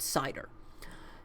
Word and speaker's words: CIDR: talk about CIDR and it's pronounced cider and it stands for